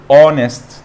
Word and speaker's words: honest: هتلاقيك بتقول اونست، طب الاو دي ايه؟ ما هو الاو يا مستر ده حرف متحرك او صوت متحرك يعني، بس ازاي يا مستر ده بدأ بحرف ساكن؟ اقول لك يا حبيب قلبي، هناك كلمات تبدا بحرف ساكن لا ينطق، ما بنطقوش، ولكن بنطق الحرف المتحرك اللي بعده، فلاني ببدا بنطق المتحرك فانا بستخدم ان.